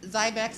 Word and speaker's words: Zybex: Is it Zybex? Is that how you pronounce it? Yes, Zybex, and I believe they